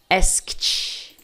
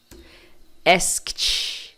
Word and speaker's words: asked: dessa forma aqui, ó, você vai pronunciar o ED com som de T. Então você vai falar assim, ó. Asked. É como se você falasse isso aqui, ó. Asked. Cuidado para não falar asked. Não é isso, é kt, kt.